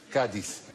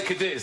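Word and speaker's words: Cádiz: Cadiz is pronounced Cardiff, by the way. Cadiz. If you say Cardiff, you're much closer Cardiff. to the way the Spanish say it, as I've found out.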